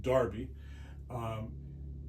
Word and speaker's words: Derby: They started in Derby, which is spelled Derby, Derby in England. They call it Derby.